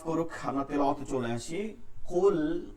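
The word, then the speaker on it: قُلْ: কুল, কফ লাম পেশ, কুল, কুল এটাকে ভারী রাখতে হবে। কুল, কুল কফের উচ্চারণটা আমাদের হলক থেকে, যেখান থেকে জিহ্বার গোড়া এবং হলকের গোড়া আগা থেকে উচ্চারণটা করতে হবে, শেষ থেকে।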